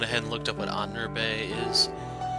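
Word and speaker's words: Ahnenerbe: So, off camera, I went ahead and looked up what Anurbe is. It's Anenurbe. That's the pronunciation for it.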